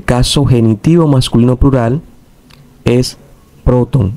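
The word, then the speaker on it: πρώτων: Porque la última sílaba es larga. Última sílaba larga, acento agudo en la penúltima sílaba.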